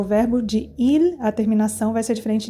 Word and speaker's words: il: Il, igual. Você fala, mas pronuncia igual que o singular?